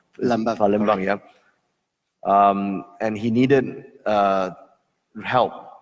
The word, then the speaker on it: Palembang: So when that shit happened in Palembang, I keep pronouncing it wrong. Palembang, yeah.